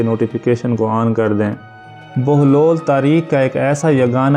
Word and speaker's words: بہلول: پامال نہیں ہوئی۔ ناظرین، بہلول کی بے پر پیش اور ہے پر جزم ہے، لام پر پیش ہے، اس لیے اس کا صحیح تلفظ بہلول ہوگا نہ کہ بہلول، لیکن ہمارے ہاں بہلول